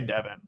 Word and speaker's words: Devin: Is it Devon or Devin? It's well, they always say Devin.